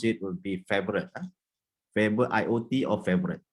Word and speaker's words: Favoriot: slightly different but with the right way to pronounce it would be favorite favorite iot or favorite not favorable riot or february so there's a wrong way to